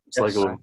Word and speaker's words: Sligo: Is that correct pronunciation? Yeah, Sligo.